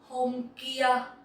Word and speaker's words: Hôm kia: Hôm kia. Hôm kia. Hôm kia means the day before yesterday. Hôm kia. There is no tone in this word, so you can just